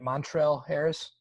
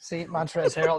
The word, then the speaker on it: Montrezl Harrell: sweet Lou love that guy I can't ever pronounce his name right Montrell Harris montrezl Harrel montrezl harrell there we go there we go I always